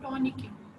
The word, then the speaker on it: tourniquet: Okay, it is not called tourniquet, it's called tourniquet. ठीक है, tourniquet, tourniquet. ठीक है, आप इसको कैसे प्रोनाउंस करोगे? टॉनिक. इसमें आपका जो लास्ट में जो आपका टी है वो भी साइलेंट है और जो आपका टी